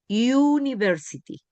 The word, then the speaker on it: university: La U, cuando digo universidad, digo university. La U se pronuncia U, en ese caso, en la palabra university. Aquí la U se pronuncia como A, ¿ya?